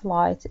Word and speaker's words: light: when you see a red light كلمة light الجي إتش لا تنطق، دائما اكتبوها عندكم في الكتب عشان ما تنسون.